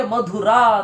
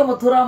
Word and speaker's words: ಮಧುರಾ: ಅದರಿಂದಾಗಿ ಇತಿಹಾಸವನ್ನು ನೆನಪಿಸುವ ಹಾಗೆ ಮಧುರಾ ಅಂತ ಅದರ ಹೆಸರು. ಈಗ ಮಥುರಾ ಮಥುರಾ ಅಂತ ಇದ್ದಾರೆ ಅಲ್ಲಿ. ಅವ್ರನ್ನೆಲ್ಲ ತಿದ್ದಲಿಕ್ಕೆ ಹೋಗೋದು ಮುಖ್ಯ ಅಲ್ಲ ನಮಗೆ. ಆ ಪಟ್ಟಣದ ಹೆಸರನ್ನು ಉಚ್ಚಾರ ಮಾಡುವಾಗ ಅದರ ಇತಿಹಾಸದ ಅರಿವು ನಮಗಿರಬೇಕು ಅಷ್ಟೆ.